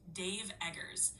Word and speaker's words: Dave Eggers: The author's name is pronounced Dave Eggers, so it's pretty straightforward.